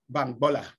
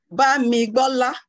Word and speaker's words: Bamigbola: So I will give preference for Bangbola. I hope I pronounce this very well. Bamigbola, that's the correct Bola.